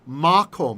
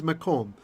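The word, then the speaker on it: מקום: But what happens is when you have a long ah sound, just before the accented syllable, makom, makom, and then you move the accent further away, that ah becomes a schwa, just a little vocal schwa, So makom becomes mekom.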